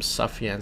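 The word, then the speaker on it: Sufjan: know this guy but his name is sjan Stevens I know some people pronounce him safan Stevens but yeah I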